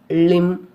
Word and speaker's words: limb: B is not pronounced after M at the end of a word. For example, limb, crumb, dumb, comb, bomb, thumb, climb, tom.